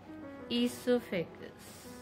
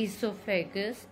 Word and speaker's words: esophagus: The other name of the food pipe is esophagus. O is silent, children.